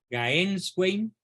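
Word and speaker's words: Gänswein: Se escribe G-A-N-S Wein. Gaenswein.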